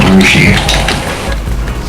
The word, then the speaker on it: Russia: guess actually called but the way it's spelled is Russia but it's called rushi thought was pronounced rusi